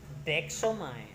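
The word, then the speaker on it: δέξομαι: Bacanya sama ya. Deksomai.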